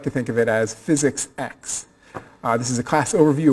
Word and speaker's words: Physics X: to the next one so physics X is pronounced physics X is not physics 10 you didn't miss 9 lectures and suddenly mucking